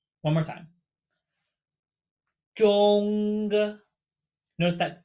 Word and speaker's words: 中: we have the character for middle or center, pronounced 中. 中. 中. One more time. 中.